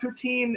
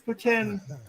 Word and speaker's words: poutine: proof that there is a god it's people mispronounce it it's not poutine it's putin every canadian i know other than you says